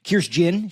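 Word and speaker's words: Kirstjen: Um I thought her answers on Kirsten Nielsen, Kirst Jyn, she did pronounce the J.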